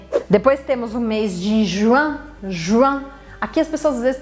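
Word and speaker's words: juin: temos um mês de Juan a que as pessoas vezes tem dificuldade porque querem falar ruim mas a gente não para não sei se está é Juan Juan meio que dá um sorriso assim Juan Juan pensa em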